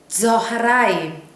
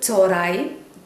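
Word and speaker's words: צהריים: Noon സൊഹറായിം, സൊഹറായിം എന്നാണ് അതിൻ്റെ ശരിക്കുമുള്ള ഉച്ചാരണമെങ്കിലും നമ്മൾ പറഞ്ഞു കേൾക്കുന്നത് ചോറായും, ചോറായും എന്ന് നമ്മൾ പെട്ടെന്ന് പറഞ്ഞു പോവുകയാണ് പതിവ്. അതിൻ്റെ ശരിക്കുമുള്ള ഉച്ചാരണം ചൊഹറായും.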